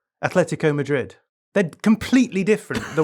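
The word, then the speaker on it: Atlético: But you're saying it wrong. You're saying Athletico. I'm saying Atletico. Yeah. And that's not how it's pronounced. Why is that wrong? Because you because it's a soft T which runs into the L.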